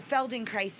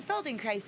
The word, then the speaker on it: Feldenkrais: yes i studied the feldenkrais method and they're like what is that and they think that i'm saying feldenkrais not felt in christ which is spelled f-e-l-d-e-n-k-r-a-i-s